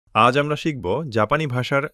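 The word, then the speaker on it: し: আজ আমরা শিখব জাপানি ভাষার সা সিরিজ। প্রথম অক্ষর সা উচ্চারণ সা। সবাই বলুন সা সা সা। দ্বিতীয় অক্ষর শি উচ্চারণ শি। মনে রাখবেন এটি সি নয়, শি।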